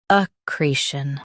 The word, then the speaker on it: accretion: Accretion. Both US and UK have the same pronunciation of this word. Stress. Cre. Keep shin soft and quick.